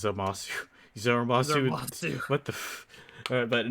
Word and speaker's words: Zamasu: You said it wrong because it's Zamasu.